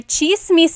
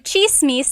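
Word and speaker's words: tsismis: One thing, in Tagalog, it's spelled with a TS. The TS combination makes that ch sound.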